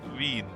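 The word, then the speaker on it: Wien: This is Vin. Yeah, that's how it's pronounced.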